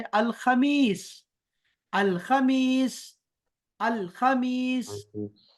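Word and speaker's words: الخميس: चलें अब इसके बाद चलते हैं, अरबिआ के बाद है अल खमीस। अल खमीस। अल खमीस। अल खमीस कमीज के वजन पर है, खबीस के वजन पर है, तो ये आसान है हमारे लिए।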